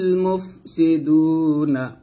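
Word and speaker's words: مفسدون: মুফে মুফে এরকম বলবেন না, বলবেন মুফসি এরকম, মুফসি দু, মুফসি দু এরকম উচ্চারণ করতে হবে।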